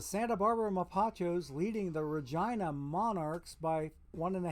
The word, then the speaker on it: Regina: how I found out that that's Regina and not Regina because I would ask okay what's the way to pronounce that and Murray bless his heart rest his soul would tell me oh it's Regina so okay okay so